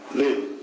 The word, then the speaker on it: Lille: and that you were in hospital in Lille. Is that how you pronounce it? Lille, Yes?